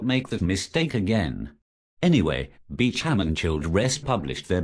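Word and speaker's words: Beauchamp: know anything about bioethics I know it is pronounced bechamp even though it is spelled bamp oops I'd better not make that mistake again anyway Beacham and CH rest published their book while at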